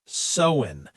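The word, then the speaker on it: Samhain: The roots are actually in an ancient Celtic festival called Samwin. Samwin. That's spelled s a m h a i n but it's pronounced sen.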